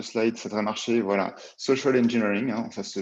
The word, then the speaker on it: social engineering: Voilà, social engineering, hein, ça se prononce comme ça pour ceux qui ne parlent pas très bien anglais.